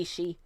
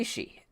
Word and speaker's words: Ishii: Tomohiro Ishii. I always say his name like that, Tomohiro Ishii, instead of Tomohiro Ishii, as that is the correct pronunciation now.